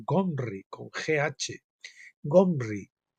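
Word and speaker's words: Ghomri: y más tarde hri en realidad se pronuncia con un gutural sonido gh que aún se encuentra en el idioma alemán pero no en castellano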